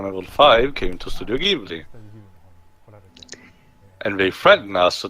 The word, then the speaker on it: Ghibli: is actually tears right it is actually give Lee by the way it's Ghibli to be done it that's not the Japanese don't pronounce tomato tomahto she's like that one of the producers to do Ghibli mr.